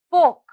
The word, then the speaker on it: folk: the next word is folk folk folk here the letter l is silent next word talk talk